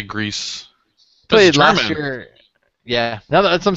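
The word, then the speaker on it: Greiss: probably not um Thomas Greece real quick is it is it gree is it Grace how how do you pronounce that name uh Thomas I'd say Greece yeah now that's what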